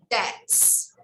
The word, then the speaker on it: debts: Only debts. Debts. Pronunciation, debts. I don't pronounce the B. I don't pronounce the B. Letter B is silent, okay?